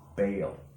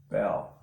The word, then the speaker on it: Baal: Baal also can be pronounced Bel.